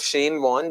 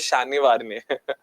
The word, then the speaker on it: Shane Warne: So, you know, my pronunciation of Shane Warne, the first time I read his name was Shani Varne.